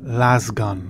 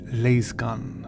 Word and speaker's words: lasgun: spelled melange lay's gun i always thought this was pronounced last gun but it is laze gun laser gun salam like